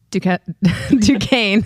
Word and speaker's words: Duquesne: Duquesne. See, I even messed that up, right? Duquesne. How is that thing? It's spelled like what?